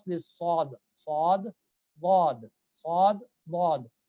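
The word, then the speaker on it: ض: The place where you pronounce this sad, sad, wad, sad, wad. From the same place, applying the Z, a little bit of Z on this, you will get to the pronunciation of wad, inshallah.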